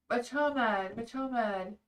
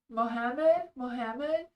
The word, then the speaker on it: Mohammed: Oh, sorry, I always say that name wrong. Machomed. C is silent. Okay. Oh, C is silent. Okay. Mohammed? Am I saying that right now?